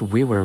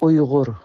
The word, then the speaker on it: Uyghur: The WeWorks are recognized as native to the Xinjiang WeWork Autonomous Region in northwest China and are one of China's 55 ethnic minorities. And yes, it's pronounced WeWork, according to the owner. Uyghur.